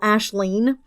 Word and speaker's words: Aisling: It would have been Aislinn or Aisling, which is how you spell Ashleen.